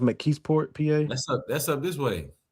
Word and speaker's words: McKeesport: I believe it's pronounced McKeesport, PA.